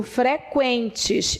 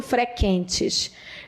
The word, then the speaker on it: frequentes: tem a pronunciar mesma eu digo freqüentes eu não digo frequêntes eu não digo que os